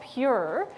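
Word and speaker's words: Pjur: It's called Pure, but it's spelled P-J-U-R.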